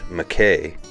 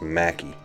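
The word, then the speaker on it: Mackay: it should be pronounced McKay I assure you that I'm not saying it with a uton accent yes the locals way of properly pronouncing this is Macky the namesake of Macky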